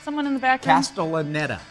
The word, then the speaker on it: Castellaneta: Dan, can you pronounce that? Someone in the back room? Castellaneta. Castellaneta, thank you.